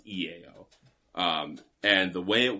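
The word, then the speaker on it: IAO: to be an i a o but it's pronounced ea um and the way it works it's three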